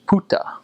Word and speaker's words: buka: Well, that word buka, B-U-K-A, it looks like book, but it's actually pronounced puta. So the B has a P sound and the K has a T sound.